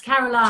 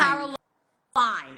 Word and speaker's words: Carolyne: just because in America you can pronounce your name two ways yes it's Caroline Caroline okay that's how I